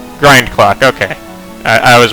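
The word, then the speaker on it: Grindclock: It's Grind Clock. Is it Grinding Clock? How do you spell it? Grinding Clock. I'm never gonna spell this. MTG. It is Grind Clock.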